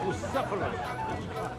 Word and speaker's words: Bucephalus: It's pronounced Bucephalus.